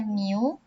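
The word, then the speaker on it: μ: hurufnya jadi Amin populasi simbolnya adalah new ini bacanya Miu kemudian varian populasi ini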